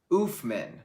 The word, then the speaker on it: Oofman: By the way, it's oof, pronounced like boo. Boo, oof. Oofman. Oofman rules.